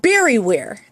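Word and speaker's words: Bariware: I saw these things called Barryware, and it's spelled B-A-R-I-W-A-R-E.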